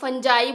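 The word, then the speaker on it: fungi: तो एल्गी और फंगी ये 2 फंजाई बोलते हैं कुछ लोग, फंजी बोलते हैं कुछ लोग, फंगी बोलते हैं, तो आपकी मर्जी आप इसको कैसे प्रोनाउंस कर रहे हैं।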